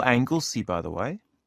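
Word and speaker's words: Anglesea: moment I'm lodging with a family at 13 Angley Road in Bondi okay let me just type that in uh how do you spell Angley by the way it's spelled a n g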